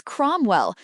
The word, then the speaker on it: Cromwell: Question two answer is Cromwell. Note ow sounds o.